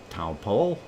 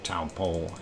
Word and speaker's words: Taupo: And GG translation only have anglicized old Taupo pronunciation. Taupo?